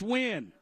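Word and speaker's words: Nguyen: And their punter is Max Win. How you spell that, Allan?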